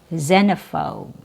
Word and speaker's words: xenophobe: It can also be pronounced with a Z sound, Z, like in xylophone and xenophobe.